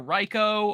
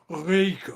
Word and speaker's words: Reiko: that people are like, is it Reiko or Ryko or Yeah. Rico? Like, What the hell I've does heard the that rolled one. R have to do with the vowels? It's Reiko.